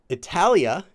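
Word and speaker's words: 이탈리아: that's right in Korea Italy is Italia is how they say Italia a lot of the names for countries in Korean will actually be their real names in their respective languages so not always some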